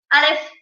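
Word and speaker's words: אלף: So the first letter of the alphabet is called Aleph.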